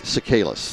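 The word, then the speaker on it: Tsikalas: That's Sakalis.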